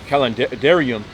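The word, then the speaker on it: kalendarium: the five words with the English letter C which is used to be all pronounced C not S like cat.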